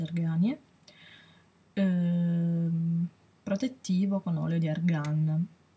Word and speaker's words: Argania: Argania è, che si legge Arganie.